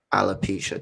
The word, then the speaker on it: alopecia: faces this i just don't know how to pronounce it correctly alopecia alopecia thank you a lot of women said it's